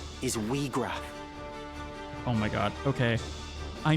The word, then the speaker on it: Wiegraf: I have always pronounced this man's name as Ygraf, not Weegraf. I don't know why, but Ygraf? Because I thought in German the IE is I, like Ygraf?